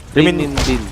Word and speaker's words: renminbi: Ano yung pronunciation nun? Renminbi.